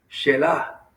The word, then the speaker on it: Selah: a tal punto que se introduce una palabra que muchas veces nos preguntamos qué significa, y es la palabra, se escribe Selah, Shelah.